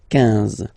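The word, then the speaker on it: quinze: Same thing here, U doesn't exist, so 15, 15, 15, alright? IN, nasal, so it's 1, 1, 15, 15, okay?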